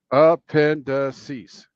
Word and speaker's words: appendices: as appendix and appendices the pronunciation is appendices wait what appendices with distress on the second syllable but please note she